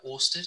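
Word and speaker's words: Ørsted: in your top 10 too, a company called Orsted. Is that how you pronounce it correctly?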